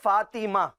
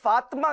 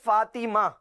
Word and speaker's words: فاطمہ: اچھا مدنی چینل کے ناظرین یہ بھی جانیں اس کا صحیح جو تلفظ ہے نا وہ ہے فاطمہ. بعض لوگ جو ہوتے ہیں توئیں پر جو ہے وہ جزم لگا دیتے ہیں، فاطمہ کہتے ہیں. فاطمہ نہیں ہے بلکہ فاطمہ.